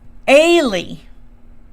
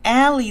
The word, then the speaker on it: Ailey: saying her name uh it's Ailey like Haley but without the h a really and I've called you Ally this whole time but